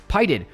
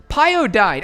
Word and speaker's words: Pyodide: PyDid. Wait, how do you say that? Pyodide. Pyodide.